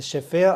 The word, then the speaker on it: SFIA: Sigma Omicron v I order alpha but the Sofia are we talking about today is spelt s f IA and this severe is